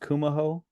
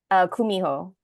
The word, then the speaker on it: Kumiho: Would it be pronounced Kumaho? Kumiho. Kumiho Mhm.